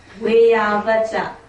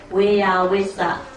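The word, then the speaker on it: veyyāvacca: Vayavacha. Okay? In Pali it is called Vayavacha. In Burmese, we pronounce it as Vayavisa. Okay? Yes, Vayavisa. In Burmese, what do we call? Vayavisa. In Pali pronunciation, Vayavacha.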